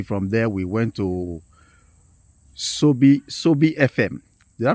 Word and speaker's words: Sobi: From there, we went to Sobi FM. Did I pronounce it well?